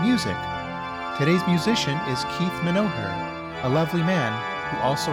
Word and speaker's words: Menoher: But I actually kind of like accentuating it and telling people Menoher, putting a little more emphasis on the middle syllable to make it easier to spell and to actually record.